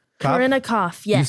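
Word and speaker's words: Kopf: It's Cop. Oh, Corinna Koff. Koff. Yeah. Is that how you say it? You don't Yeah. even say the P.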